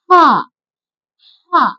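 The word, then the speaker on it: حاء: இது என்னன்னா ஹா ஹ நல்லா வாயில இருந்து நல்லா ஹெவியா காத்து வரணும். உள் பகுதியில இருந்து நல்லா சவுண்ட் வந்து நல்லா நம்ம சொல்லணும். ஹா ஹ அப்படி சொல்லணும். நம்ம காரமா ஏதாவது சாப்பிட்டோம்னா ஹ அப்படி சொல்லுவோம் இல்லையா அந்த மாதிரி நல்லா உள்ள இருந்து உச்சரிப்பு வரணும். காத்து நல்லா வெளியில வரணும்தான்.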